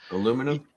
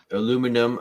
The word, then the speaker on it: aluminum: foil stuff right what what's the aluminum aluminum yeah you're saying that wrong aluminum or aluminium aluminium but